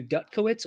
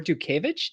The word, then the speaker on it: Dutkiewicz: So, and believe me, I do not know much about my Polish heritage, but apparently it is okay to do Dutkowitz or Dukevich, depending on where in Poland you're from.